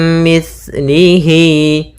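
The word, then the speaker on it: مِثْلِهِ: Kemudian hati-hati dalam pelafalan sa, jangan dibaca mis gitu ya, tapi di situ sa, mim mislihi.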